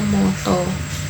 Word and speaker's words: mata: Contohnya nata dibacanya noto, lara dibacanya loro, dan mata itu dibacanya moto.